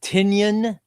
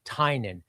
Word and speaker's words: Tynion: How is it pronounced? Is it tinyon, like an onion? Uh how how is it pronounced? Is it tinyon?